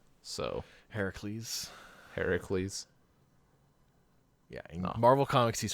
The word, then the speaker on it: Heracles: of them stor proper the proper pronunciation is Heracles so Heracles Heracles yeah Marvel Comics